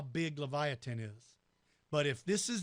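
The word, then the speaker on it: Livyatan: called Leviathan now Lafayette this one's pronounced Leviathan Leviathan is related to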